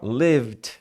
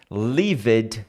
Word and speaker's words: lived: o seguinte ó lived toma cuidado para não falar Liv muita gente fala Liv você v o e e quer falar mas no inglês a gente não fala necessariamente da forma como escreve então às vezes se escreve